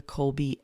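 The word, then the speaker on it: Kolbe: alongside the enneagram i use something called the colby a index and kobe is spelled k-o-l-b-e it is the last name of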